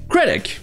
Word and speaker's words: critic: Tout d'abord, nous avons critic. Ici, c'est la première syllabe qui est accentuée.